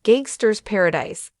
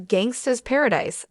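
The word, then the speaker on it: Gangsta's Paradise: the Alex trebec days counted off someone for saying gangster paradise instead of Gangsta Paradise as the Coolio song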